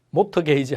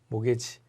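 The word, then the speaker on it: mortgage: 이때 T자 묵음입니다. 모터 게이지 하면 안 돼요. 모게지. 모게지, 모기지라고 하는데 모가지라고 하면 안 돼요.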